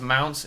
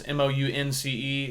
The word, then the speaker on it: Mounce: It's last name is Mounce, Mounce. It's spelled like bounce with a on it. Bounce with an M.